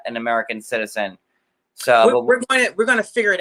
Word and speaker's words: Seaux: So is spelled SEAUX. That's a homage to my French Creole roots from Louisiana.